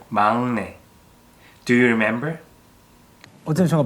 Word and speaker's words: 막내: Even though the first letter has 기역 on the bottom part, it should sound like 응. So it's 막내, not 막내.